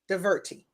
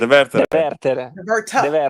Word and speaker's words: Devertere: Deverti. No, that right? Devertere.